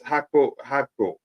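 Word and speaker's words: Gakpo: Again, pronunciation is Hakpo, and he is 50 million.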